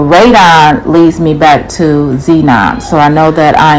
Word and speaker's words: xenon: sheena or excuse me that's not how you pronounce it it's called xenon which is a a um colorless dense odorless noble gas xenon so that's the the